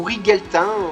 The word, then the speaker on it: Rigelatin: un méchant qui est tout rouge, qui s'appelait Rigelatin, hein, ou Rigeltin, voilà, ça s'écrit R-I-G-E-L-A-T-I-N, le nom de ce mec-là.